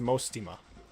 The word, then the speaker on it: Mostima: According to Famea, Mostima's name is pronounced Mostima. Mostima.